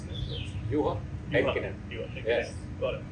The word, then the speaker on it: Juha Heikkinen: So joining us is Juha Heikkinen, that's how I pronounce it? Juha Heikkinen.